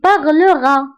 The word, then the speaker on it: parleras: حدا er كنضيفو as وهاد اس ما كنطقوهاش كنقولو tu parleras كنطقو غير a parlera